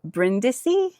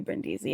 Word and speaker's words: Brindisi: She went to Brindisi. I'm not even sure where that is. What is it? Brindisi. England, France, Brindisi. Italy. Okay, it's in Italy. Brindisi? Is it? Do you say Brindisi? Oh, probably Brindisi.